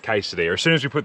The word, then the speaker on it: quesadilla: Quesadilla, it's pronounced quesadilla.